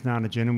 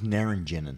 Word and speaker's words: naringenin: Grapefruit contains naringenin, which is a chemical that it slows down the cytochrome. How do you pronounce it? I thought it was naringenin.